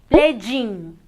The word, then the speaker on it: playing: Y la G del ing también es muda. No se dice playing o playing. Simplemente play in.